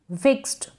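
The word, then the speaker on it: fixed: क्या है हेल्प वश फिक्स्ड यहां पर ट ट का साउंड आ रहा है आपको लग रहा होगा ड लेकिन आप खुद से पढ़ेंगे तो आपको समझ में आएगा नेक्स्ट है ईडी को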